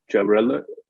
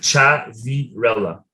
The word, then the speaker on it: Ciavirella: today I'm really excited to welcome traveler Chevrolet sorry I I should have asked you for your name first um I'll repeat that how do you pronounce that uh chat virella jabarella okay gerberello okay let me do